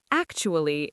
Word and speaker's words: actually: We don't say 4 syllables, we say 3. 3 syllables. Yes, the TU in the middle makes a ch sound, like in cheese or church.